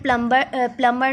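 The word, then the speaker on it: plumber: Next है डम में बी साइलेंट, पाम में एल साइलेंट, प्लम्बर में बी साइलेंट, एमंड में एल साइलेंट।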